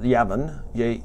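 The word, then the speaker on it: Yavan: So when this final battle comes, and there's this leader from what we call Turkey today, or Yavin, J-A-V-A-N or Y-A-V-A-N is the Hebrew pronunciation.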